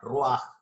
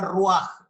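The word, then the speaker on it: ruach: en génesis esta palabra rúa se escribe rv a ch pero se pronuncia como una jota al final roja y en la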